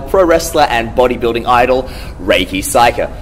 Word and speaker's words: Reika Saiki: The problem is because in Japanese you say Saiki Reika. Yeah. And then you say Reika Saiki. Hence I always get my I and A switcherooed.